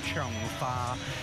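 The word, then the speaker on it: 窗花: You might see these kind of paper cuts displayed on doors and windows, and in Cantonese they're pronounced Chong Fa, meaning window flower.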